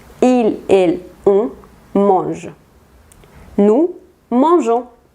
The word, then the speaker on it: mangeons: Nous mangeons. Aquí se le pone la E entre la G y la O para que tengamos ese sonido J, porque si no sonaría go.